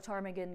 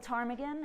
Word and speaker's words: ptarmigan: And I'd like to ask you, as an audience, why you can't hear a ptarmigan go to the bathroom. Because the P is silent. There are 5 recognized subspecies of white-tailed ptarmigan, extending from the Peninsularis subspecies in Alaska and down through the Alaskan islands.